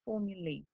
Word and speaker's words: formulae: Strange pronunciation, but it is correct, formulae.